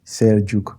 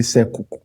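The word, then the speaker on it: Selçuk: If you see that written down, you probably will see Sekuk. Okay. But Turkish language, that is the way you read. There are letters that are pronounced differently from the usual, English alphabet. Okay. Yeah, so they have this C, and they have this letter C with like a dot under.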